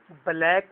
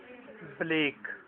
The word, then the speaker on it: Blake: Black नहीं पढ़ना, Blake.